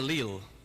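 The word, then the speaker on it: leal: it it's a song called land of the leel the word Lil uh is spelled in Old Scots l-e-a-l and it means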